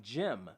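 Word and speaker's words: Jem: If you're watching the original version, the song that you hear is a song called They by Jim, spelled J-E-M, as in Jim and the Holograms.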